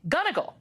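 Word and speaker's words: Gunnigle: And I want to start by making sure I pronounced your name correctly. Is it Gunigal?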